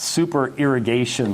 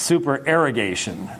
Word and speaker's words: supererogation: It's not supererogation like you're over-watering the crops. It's supererogation. It's a different word, and he was right.